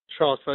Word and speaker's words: Charlottesville: Charlottesville, yeah, in Virginia.